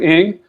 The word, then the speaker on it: Ng: if you just google andrew ing his last name is spelled engie um and then uh